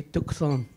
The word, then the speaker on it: Tucson: In Spanish, I think they say Tucson. So I say, yeah, the C is not silent, it should be pronounced.